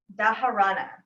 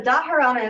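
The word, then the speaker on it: dharana: and then from there we go in to daharana daharana is a sixth limb and that means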